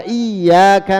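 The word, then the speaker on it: إِيَّاكَ: Wa iyyaka nasta'in pakai tasdid, dan kepadamulah kami minta pertolongan. Berarti kalau tidak pakai tasdid jadi iyak artinya syams.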